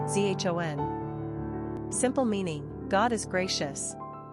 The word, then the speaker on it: Jean: Pronunciation, zhon.